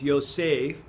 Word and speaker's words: Yosef: And when it's got two dots under it, it's an A sound. So it's Yosef, and then that's a Pei, so P sound. So Yosef is how you say it.